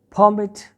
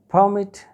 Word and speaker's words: permit: to go there but when this word will be used as a noun the stress will be on the first syllables permit i have got